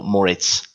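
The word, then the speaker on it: Morić: So basically the most or the closest pronunciation will be like a Morris, or you can use one step forward to use a C at the end, not K, but C, so Moritz.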